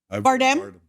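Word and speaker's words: Bardem: Bardam.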